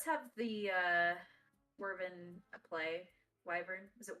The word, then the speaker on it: wyvern: Wyvern. Was it Wyvern? I've always called them Worven, which I don't think is correct.